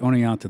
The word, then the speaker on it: Oneonta: Oneonta Oneonta yes oh it's pronounced owning out too that's why I wear